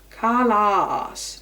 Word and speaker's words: Callas: she and her crowds headed a huge aah Karla neither syllable emphasized that the cost of the other